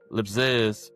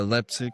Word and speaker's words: Leipzig: Leipzig. Yeah, Leipzig.